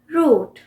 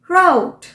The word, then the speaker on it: route: सो हम बोलते हैं रूट, ROUTE, रूट। और जबकि अमेरिकन इसी वर्ड को कैसे प्रोनाउंस करेंगे? राउट, राउट। थोड़ा फनी लग रहा होगा, बट ये बहुत इंपॉर्टेंट लेसन है आपके लिए। किसी को ये नहीं बोल सकते कि आप गलत प्रोनाउंस कर रहे हैं। सो रूट एंड राउट।